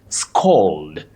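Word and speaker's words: scald: You say scold, scold with a long low back sound o, scold.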